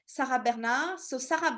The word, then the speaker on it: Bernhardt: Alors, the last one is Sarah Bernhardt. So I know in English you say Bernhard, but in French we say Bernard because we don't pronounce the H. Sarah Bernard. So Sarah Bernard, it's really the lesson